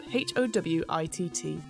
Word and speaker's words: Howat: And Howat is spelled Howitt.